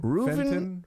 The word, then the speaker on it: Reuven: Reuven Fenton. Huh. Reuven. That's almost normal. Innocent till No, it's Reuven not. guilty? It's a weird Hebrew name. It sounds almost like Reuben. Yeah, but with a V.